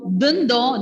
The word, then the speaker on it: dindon: Ensuite, avec lettre D, dindon. Dindon. It is not dindo. I-N, we don't say D. Instead, the pronunciation is D. Dindon. Ending letter N will be silent. And the O sound will be nasal.